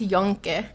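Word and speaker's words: Yunque: No, it's pronounced Yonque.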